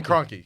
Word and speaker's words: Kroenke: Cronky. Cronky? Grunky? From where? The Rams owner? The owner of the Rams. Oh, Stan Kroenke.